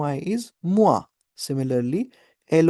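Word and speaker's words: moi: सो एम ओ आई इज मुआ similarly L ओ आई इज लुआ इट्स नॉट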